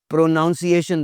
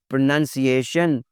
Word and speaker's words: pronunciation: हूँ, तो सबसे पहले मैं उसका प्रोनाउंसिएशन देखता हूँ। तो जनाब यहाँ पे आपको कहना चाहिए प्रोनंसिएशन, प्रोनंसिएशन, तलफ़्फ़ुज़ करना, तलफ़्फ़ुज़।